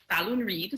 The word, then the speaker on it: Falloon-Reid: My name is Falloon-Reid, spelled like balloon, but with an F.